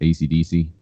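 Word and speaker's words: Esidisi: Yeah, the last one they had with part 2, they had a guy called ESIDSI, which is pronounced ACDC.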